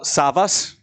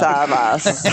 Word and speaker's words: Savvas: Savvas. It's really Savvas. Savvas. Oh, Savas. Yes. No. No, Savas. Savvas.